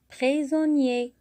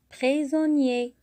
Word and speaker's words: prisonnier: Le mot prisonnier, à la fin, on a I-E-R. Alors, I, c'est le son I. Alors, quand on a I à côté d'une voyelle, va se prononcer bien sûr I. Comme I avec A, ça donne IA. Comme I avec O, ça donne Yo.